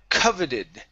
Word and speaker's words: coveted: Uh next up is um okay the word coveted. Okay. So our stress is at the very beginning of the word coveted.